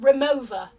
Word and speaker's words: Rimowa: This is the biggest size that Rimowa, I think it's actually pronounced Rimowa, I think, in German, I believe.